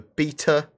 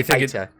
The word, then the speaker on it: beta: Then we've got the Mustangs, the Alpha, the Beta. Although you're going to say Beta. In America, they say beta instead of beta, so that's obviously a pronunciation that we're going to differ on.